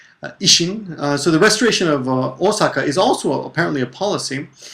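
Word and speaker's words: 大阪: Now Osaka, of course, the actual pronunciation of Osaka is Osaka, but when we write it in English it just has one O.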